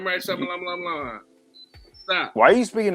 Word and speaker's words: Shyamalan: Night Shyamalan. Stop. Why are you speaking in tongues? I'm not speaking in tongues. His name is M. Night Shyamalan. It's not that difficult to say. No, M. Night This Shyamalan.